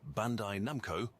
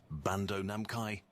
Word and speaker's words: Bandai Namco: The name Bandai Namco, often mispronounced as Bando Namkai, is a classic example of the human tendency to reorder familiar sounds in unexpected ways.